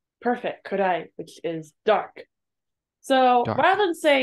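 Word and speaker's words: 暗い: Do you remember how this is pronounced? Could I? Perfect, kurai, which is dark.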